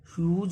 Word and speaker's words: Hughes: यहाँ पर HUGHES का उच्चारण प्रोनाउंसिएशन ह्यूज होगा।